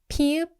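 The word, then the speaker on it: 피읖: 피읍 is strong aspirated P, which means more air.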